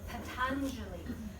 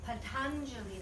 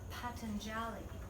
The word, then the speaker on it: Patanjali: saying it right so for example Patanjali Patanjali that's how you pronounce his name in the Sanskrit but others would pronounce a Patanjali and that's a different dialect from somewhere else like we Western eyes